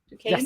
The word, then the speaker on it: Duquesne: I'm pronouncing that right, correct? Duquesne?